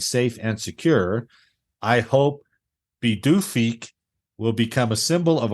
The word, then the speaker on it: Pituffik: Its new name is Pituffik, and it's pronounced Pituffik. Pituffik.